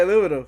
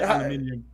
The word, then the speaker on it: aluminium: Oh, we say aluminum. Yeah. Yeah, I say aluminium.